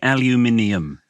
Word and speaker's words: aluminium: third pronunciation cross what is that we say aluminium aluminum aluminum aluminum well we pronounce every syllable what do they call Oregan